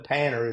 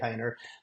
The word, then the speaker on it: Panter: painter insurance and that's p n t Panner is really what it's pronounce but we say painter but you know you can go to my